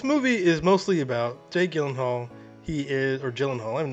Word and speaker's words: Gyllenhaal: It is a Swedish name. So shouldn't it be like Gyllenhaal? Oh my God. I have to help you with it. It is actually Gyllenhaal. The only two places that is pronounced correctly, my last name, like you did just now, is in Sweden and in IKEA.